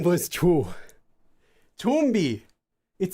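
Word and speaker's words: 좀비: Chumbi, because zombie in Korean is chumbi. But because this letter is a nasal consonant, it can also get pronounced like a miem at times. Often this consonant can get pronounced as miem sometimes when words are said quickly. So chonbi, chombi, chombi. Chonbi sounds like chombi.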